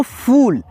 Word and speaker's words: फूल: से फूल है, तो फूल, फूल यानी फ में बड़ा ऊ की मात्रा है और उच्चारण भी धीरा नहीं है भाई, स्लोली नहीं है, फास्ट है, खींच करके है।